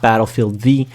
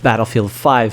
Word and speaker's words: Battlefield V: It is the Roman numeral for 5 and it is not Battlefield V.